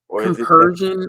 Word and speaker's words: compersion: don't get that comparison like compersion I think is the right way to say it c o m p r s i o n compersion and the definition of